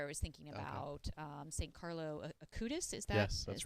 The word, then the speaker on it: Carlo Acutis: Carlo Acutis.